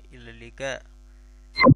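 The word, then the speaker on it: إلى اللقاء: Huruf qafnya jadi ge. Ila liqa.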